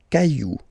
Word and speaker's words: cailloux: Then, un caillou, plural, des cailloux. Okay, remember, you don't pronounce it, the final X.